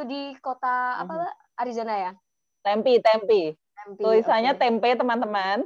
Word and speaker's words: Tempe: Tempe. Tempe, Tulisannya oke. tempe teman-teman, tapi bacanya tempe ya.